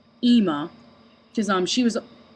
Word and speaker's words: Ema: a bit lower, and it's like I hear more of the M in the Emma, but whereas there's just one M in Ema, the way they spell it in Ace Attorney, I was just thought it had more of an I or an E sound to it, where it had like a higher pitch to it, like Ema, like how I pronounce it.